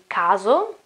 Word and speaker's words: caso: In some cases, we also have another way to pronounce S, yes, and it is z, z. Like in caso, case, okay?